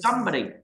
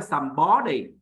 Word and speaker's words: somebody: Somebody. Lưu ý. Không phải là somebody. Mà nhấn âm đầu tiên.